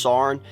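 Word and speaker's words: Saarne: called the sarn is i think it's pronounced sarn institute um and it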